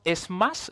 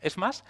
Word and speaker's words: SMACSS: Luego tenemos Smash, se pronuncia así, lo he leído en la documentación, Smash, que lo que hace es justamente todo lo